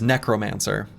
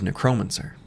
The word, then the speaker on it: necromancer: So, I'm pretty sure the correct emphasis for the word necromancer is necromancer, but when I was a kid, it was necromancer.